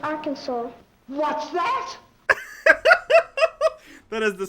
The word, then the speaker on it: Arkansas: our kansas well please it is pronounced arkansas what's that kansas